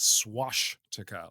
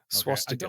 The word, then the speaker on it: swastika: of this word, but it is not swastika, like swashbuckling. Okay? Swastika, sorry.